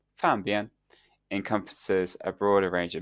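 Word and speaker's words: 方便: This misinterpretation stems from the fact that the Mandarin word for convenient, pronounced "fanbian," encompasses a broader range of meanings, including both convenience and simplicity, and something that is nearby.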